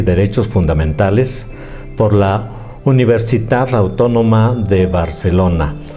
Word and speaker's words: Universitat: Es máster institucional en Derecho Constitucional y Derechos Fundamentales por la Universitat Autónoma de Barcelona. Decimos universidad porque allá así se llama, es la pronunciación correcta.